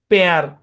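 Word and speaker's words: pear: আচ্ছা, তারপর দেখেন, পি ই এ আর উচ্চারণ পেয়ার।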